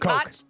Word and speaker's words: Koch: Koch? Coke. Well, Coke? Typically like the Koch brothers, Yes, you know, that way. But I also knew Coke. a Koch that was spelled that way.